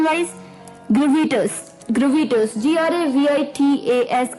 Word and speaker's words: gravitas: तो this brings us टू अवर 11th word, जो कि है, ये थोड़ा सा अटपटा वर्ड आपको लग सकता है प्रोनाउंसिएशन वाइज, ग्रेविटस. ग्रेविटस, GRAVITAS, ग्रेविटस.